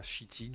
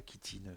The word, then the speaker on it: chitine: il s'attrape avec du de la chitine ou la kitine ça dépend des gens comment comment on fait la prononciation moi je dis chitine voilà c ça fait